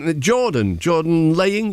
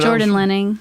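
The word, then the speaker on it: Jordan Lehning: And so, Jordan Laying, is that pronounced? Jordan Lenning.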